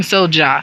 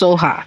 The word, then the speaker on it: soja: was like soha that's no i was saying soja so it's spelled s-o-j-a so i was like soja soja right and but it's pronounced soha it's it's really i think pronounced but you